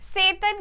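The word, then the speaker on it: Tsetan: Driver चाहिए, तो वो सेतन को हायर करते। पता है सामने टी है, बट टी साइलेंट है।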